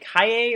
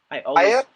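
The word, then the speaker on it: Kaaya: I believe it's Is it Kaye or Kaya? Kaya? Is it Kaya? That's how I say it. All right, we'll go with Kaya because Noah says it.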